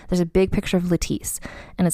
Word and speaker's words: Lettice: It looks like lettuce with an I, but again, Lettice pronounced like the eyelash serum.